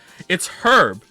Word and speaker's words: herb: Nothing triggers me more than people saying herb instead of herb. It's herb.